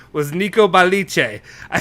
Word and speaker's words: Balice: And the person who reported this, and I'm going to say it right, was Nico Balice.